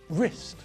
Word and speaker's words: wrist: And in the same way, we don't pronounce the silent W in these words either. Rap, write, wrestle, wrist.